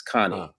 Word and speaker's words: Kani: if you know that in Europe they pronounce my name very differently out there if you say car Kanai out there they won't know what you're talking about it's Connie Connie yeah Connie you say Kanai they like no Connie so k a ni I in in their language is pronounced Connie so oh okay forget